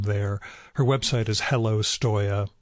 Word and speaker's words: Stoya: her website is hello Stoia which is spelled just like it sounds all one word again